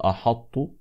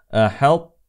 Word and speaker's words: أحط: قال احظت لاحظوا احظت فاولا ننتبه الى الحاء احاء ولا نقول احط هكذا الفخم وايضا اخواني ننتبه الى الادغام هنا عندنا ادغام بين الطاء والتاء ادغام متجانس ناقص فيجب ان نحرص على صفه الاطباق في الطاء تبقى صفه الاطباق من الطاء فنقول هكذا احط احط احط وسنشرح ذلك قريبا ان